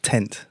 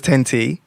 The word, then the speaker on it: 10T: so talk to me about the concept of tent that's how you pronounce it right 20 cents yeah yeah so